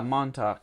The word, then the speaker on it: Montauk: Yeah, Montauk, like the mountains.